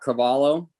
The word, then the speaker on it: Carvalho: My name is Carvalho, Marcarvalho, also known as, also known as.